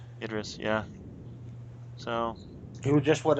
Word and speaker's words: Idris: the losers you know Zoe Saldana Chris Evans address Elba how do you pronounce his name Idris yeah so you just what a SAG Award